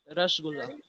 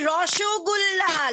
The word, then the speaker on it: Rasgulla: Rasgulla. Yes, Rahul. Rasgulla. Rasgulla is the correct answer. That's right. But correct answer, but you should have pronounced it Roshogulla like Bengalis.